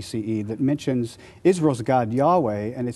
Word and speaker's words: Yahweh: god uh who is has the name Yahweh pronounced something like Yahweh but they also worshiped